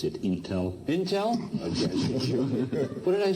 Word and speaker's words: Intel: Leader Award goes to Andy Grove, former Chairman and CEO of Intel.